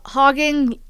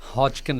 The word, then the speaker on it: Hodgkin: what exactly is this uh hoging lymphoma did I pronounce it right hodkin lymphoma but yeah hodkin lymphoma okay so hodkin lymph lymphoma.